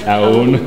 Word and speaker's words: Aoun: Damn it, how do you pronounce it again? Aoun.